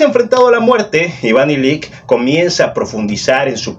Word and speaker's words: Ilich: La muerte de Iván Ilich, de Lev Tolstoy. Sí, en ruso ya traducido, la CH se pronuncia como una K.